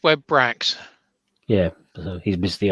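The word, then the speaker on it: Webrax: one of those wrong isn't it webracks it's web bracks yeah so he's missed the audio so he's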